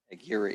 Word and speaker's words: Aguirre: Did I pronounce it right? Aguirre.